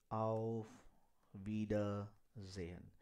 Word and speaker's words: Auf Wiedersehen: So you can pronounce it a auf wie der wie der. Okay, you can say wie der. Ze, ze, you can say ze, Jan. Auf Wiedersehen. That is the exact pronunciation of this see off.